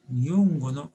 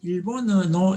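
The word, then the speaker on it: 日本語: 렌슈 아나타와 니혼고노 홍어 못데이마스까 이렇게 하면 니혼고가 일본어가 한자로 되어 있습니다. 그래서 일본어노 이렇게 하면 안 되는 것입니다. 니혼고노 일본은 일본식의 발음이 따로 있는 것입니다. 그걸 그대로 읽어줘야 됩니다.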